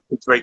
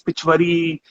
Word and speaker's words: Pichwai: they never knew of Pichwai. What is Pichwai? And they couldn't even, leave aside knowing Pichwai, they couldn't even, pronounce it properly. They would call it by different names, Pichwari, Pichai.